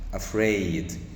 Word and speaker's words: afraid: فيهاش اشتقاقات تعالوا نشوف كده معانا كلمه افريد افريد طبعا هسال سؤال لذيذ الاول افريد يا شباب